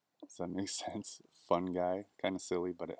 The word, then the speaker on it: fungi: remember it is that my friend mushroom is a fun guy so make sense fun guy kind of silly but